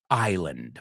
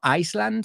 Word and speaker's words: island: On his private Greek island. Vamos a pronunciar esa palabra. No Iceland, sino island.